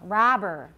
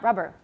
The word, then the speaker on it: robber: Robber. Robber. It's not rubber. And then it'll sound like xiangpi, okay?